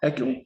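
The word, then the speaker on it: Haeckel: And how do you Is it heckle? Heckle. Heckle like heckle and jeekeel. Heckle and jackal.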